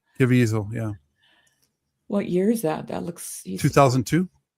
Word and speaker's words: Caviezel: Caviezel, yeah.